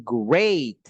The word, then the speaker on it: great: Ingat ya pengucapannya, it's been great, bukan greet. Kalau greet itu menyapa.